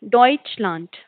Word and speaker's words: Deutschland: जो ई और यू जहाँ पर टुगेदर आते हैं तो उसकी साउंड जो होती है वो ओए वाली होती है, तो डॉइच एंड डी यहाँ पे टी की तरह साउंड करता है, तो लांट, डॉइचलैंड, विच मीन्स जर्मनी.